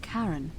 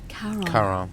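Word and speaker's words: Charon: Only your pronunciation is a little off. The name you heard wasn't Karen. Kon C H A R O N. Of course, Karan, the fairyman of the dead.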